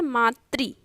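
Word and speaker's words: मातृ: इसका उच्चारण कैसे होता है? मात्री, ठीक। तो उसमें री का प्रयोग हुआ है।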